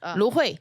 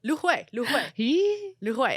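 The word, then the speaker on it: 芦荟: Lu hui. Lu hui.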